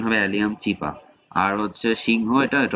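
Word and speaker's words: Allium cepa: হ্যাঁ, নোটে আসলে আমরা দেখতে পাবো এখানে মানুষের পরে আছে পেঁয়াজ, এটা হচ্ছে অ্যালিয়াম চিপা, এটার উচ্চারণ হবে অ্যালিয়াম চিপা।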